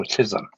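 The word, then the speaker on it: Chisholm: Or how do you spell it? C H I S H O L M. Oh, Chisum.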